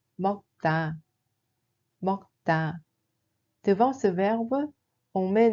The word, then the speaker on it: 먹다: Il se prononce en réalité comme ‘먹따’.